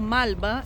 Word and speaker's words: Malba: El Museu Malba está sobre a Avenida Figueroa Alcorta. Olha que interessante. Primeira pronúncia, né? A coisa do L. Malba, Alcorta.